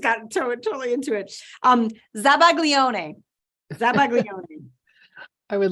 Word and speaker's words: zabaglione: wow I just got totally into it um zabaglione I would like a definition for that please